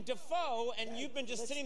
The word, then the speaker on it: Dafoe: You've let everyone mispronounce your name for like 40 years. We've all been saying Defoe, and you've been just sitting there going like, well, I won't say anything.